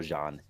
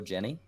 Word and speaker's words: Jeanne: Google aka hua tell us how we pronounce this name so according if we go with the French pronunciation we're gonna go John Shai loaded the game in